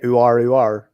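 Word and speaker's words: Aouar: You say Uar. That's how you say it.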